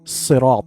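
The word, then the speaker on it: صراط: Ensure correct pronunciation of sirat. Sirata as sad should be pronounced with a heavy sound.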